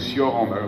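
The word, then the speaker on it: Cioran: naissance et c'est alors je vais pas prononcer à la Roumaine parce que sinon s'il y a quelques Français là me comprendrait pas c'est donc sioran vous Ditan voilà donc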